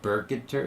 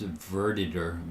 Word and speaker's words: verditer: It's not burketter, it's verditer. V v e r ver v e r d i t e r verditer.